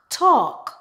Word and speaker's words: talk: and a l k typically the L in the word is silent for example aand aand